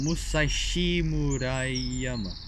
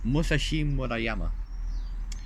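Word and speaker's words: Musashimurayama: So I'm gonna try my best to pronounce that word, because it's like a long Japanese word. It's Musashi Murayama. It's Musashi Murayama.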